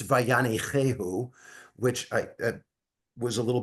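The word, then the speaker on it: וַיַּנִּחֵהוּ: First of all, a point of clarity, I did mispronounce the term. The word is God, when God settled, it's Vayanichehu, which I was a little bit off in that.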